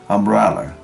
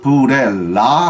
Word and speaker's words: umbrella: umbrella 이거 갖다가 브렐라 하면 안 되는 거죠. umbrella 두 번째 액센트가 들어가는 겁니다.